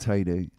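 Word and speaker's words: Teide: Mount Tad. Oh, yeah. Oh, yeah. Spelled T E I D E, but pronounced Tadi.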